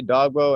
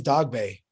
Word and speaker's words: Dogboe: to everyone out there people say dog bow and dog bait i don't really i think the correct way to say is dog bay yeah yeah the way